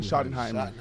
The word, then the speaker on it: Schottenheimer: Coach Schottenheimer, how you say it? Brian Schottenheimer.